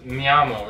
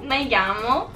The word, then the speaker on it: me llamo: That mi amo, Andrew. Me llamo.